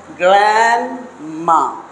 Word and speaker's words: grandma: Now we have to pronounce this one as grandma. So not grandma. So here this D is not pronounced.